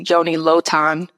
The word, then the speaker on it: Yoni Lotan: first time I think I've ever called you Joanie loton it right how did it feel did it